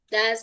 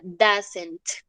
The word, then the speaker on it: doesn't: Y se pronuncia doesn't. ¿Listo? No es do es not ni do es. Esto es como si fuera una A. ¿Listo?